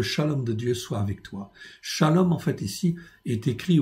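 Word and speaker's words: שלום: dans certains versets il n'existe pas ça se prononce toujours shalom mais c'est pas une écriture pleine donc ici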